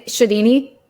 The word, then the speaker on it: Sciadini: So, uh but I am Have I pronounced your name right at least during this episode? Yeah, I mean Shadini.